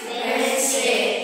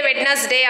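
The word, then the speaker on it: Wednesday: good what it इज वेनसडे we can't say वेडनेसडे र वेनसडे like that okay वेनसडे what is that वेनसडे सो डी E silent here right okay today we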